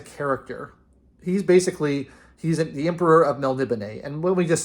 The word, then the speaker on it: Melniboné: And so putting the accent mark over the final E really makes it easier to know that it's Melniboné and not Melniboné, which is very nice for me.